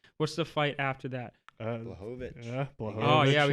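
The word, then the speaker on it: Błachowicz: Blachowicz.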